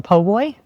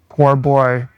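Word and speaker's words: po' boy: One of them is a poboy, which is short for poor boy. Yeah. And I think some there are some segments of the New Orleans citizenship that pronounces it poor boy, but most people, especially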